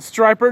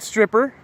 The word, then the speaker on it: striper: strap her right here it is pronounced striper not stripper now the trick to